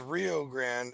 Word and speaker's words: Rio Grande: as a fat guy all I know about Rio Grande is that's where Bob Evans is from yeah rest in peace over here it's pronounced Rio Grande and it's a river that runs through the